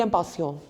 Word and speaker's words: impatients: Nous sommes impatients, simply impatients. Like there's no E at the end, and we won't pronounce the T at the S, which we have written after impatient. So it's simply, nous sommes impatients, we are excited.